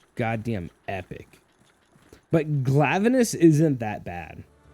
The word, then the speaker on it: Glavenus: But Glavenus isn't that bad. Unless you pronounce it like I do, which is Glavenus. Because he's an anus and he's a glove. Or Glavenus. Yeah.